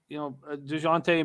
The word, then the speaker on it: DeJounte: DeJounte Murray, and I'm pronouncing it right for you, Jose, and for you, Wham. I don't like pronouncing the J.